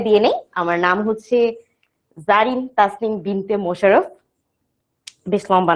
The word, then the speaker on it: Zarin: কাছে, কি লেখা, ZARIN, জারিন, তাই না? কিন্তু এটা হচ্ছে যে আমার উচ্চারণটা কি জারিন, বাংলায় লিখলে ব্যাপারটা হচ্ছে কিছুটা এইরকম। হ্যাঁ, কিন্তু প্রত্যেক ক্লাসে আমি